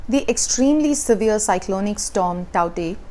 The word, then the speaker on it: Tauktae: extremely severe cyclonic storm taute that's how it's pronounced in burmese is battering india's west